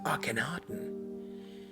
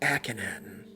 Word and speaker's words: Akhenaten: young princesses contemporaneous with Akhenaten or a Kineton depending on where you come from or it cannot and can often in German so don't get too